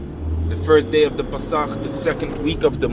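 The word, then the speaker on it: פֶּסַח: Pronounced in Hebrew, in the ancient Hebrew, so to speak, the Pasach.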